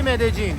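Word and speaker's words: Medellín: بار میگیم اد جین کلاً این د تا ال توی زبون اسپانیایی وقتی میذارن این ل خونده نمیشه ی خونده میشه ولی همین ی تو یه سری از کشورا ج تلفظش میکنن یه سری جاها ژ تلفظش میکنن و آرژانتینی‌ها از همه بدتر ش تلفظش میکنن خود کلمبیایی یه چیزی بین ژ و ج میگن واسه همین وقتی میای کلمبیا باید بگی مد جین یا مد جین یکی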